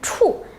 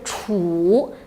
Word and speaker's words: 处: ở đâu Đương nhiên nó có hai cách đọc, một là “chù” ví dụ “好处” “坏处”, chữ “处” này còn một cách đọc là “chǔ” tức là ý ở